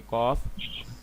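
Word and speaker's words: قاف: जैसे मैंने आपको कहा कि कॉफ कहाँ से प्रोनाउंस होता है, कुल रूट ऑफ द टंग कुल और सॉफ्ट पैलेट। बिन्नस। हाँ, इसको सिंपल ही याद रख लो कि कॉफ मोटा करके पढ़ना है भाई, मुस्तालिया लेटर से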